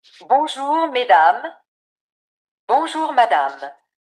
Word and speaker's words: mesdames: In this mesdames, es, remember, giving us a. Then the a you're giving us the a. Madame, mesdames, madame.